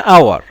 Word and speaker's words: hour: so this letter here the letter H is not pronounced it is not pronounced it is written but it is not pronounced it is silent it is silent so